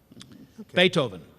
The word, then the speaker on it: Beethoven: Beethoven. Okay. Ian or Yeah, T-H. That's T. Yeah. T-H, yeah. That's it. Is that right? Yeah, go with that. Beethoven.